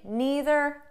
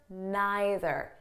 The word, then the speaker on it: neither: Now, before we go any further, I just want you to know that the pronunciation is flexible. So you can say neither, neither, either, either.